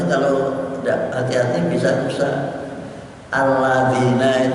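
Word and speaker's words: الَّذِينَ: Alladzina itu untuk nulisnya membacanya bisa ditulis baca alat zina. Terus alladzina kan aladin terus diberi zatan zina, alat zina, pada alladzina yu'minuna billahi wa alladzina yuqimuna rusak.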